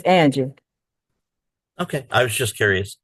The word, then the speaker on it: Anjie: Yeah, it's Angie.